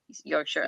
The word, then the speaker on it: Yorkshire: Yorkshire.